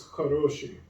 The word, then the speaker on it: хороший: or bolshoi, and actually even if we think of like gendered forms of хорошо, it's хороший. So that stress already moves back to the second O.